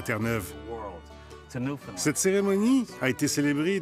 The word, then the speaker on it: Terre-Neuve: Je pense que le macaru est un véritable oiseau fier et noble et on prononce Terneuve, pas terre neuf ou Nouvelle-Finlande.